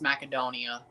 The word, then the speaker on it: Macedonia: Gretzky actually pronounced Macedonia right when he did the World Cup draw. actually is pronounced macadonia.